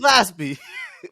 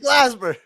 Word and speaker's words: Glasper: If you said it right the first time, it would have been really funny. I didn't say it right the first time. You said Glaspie.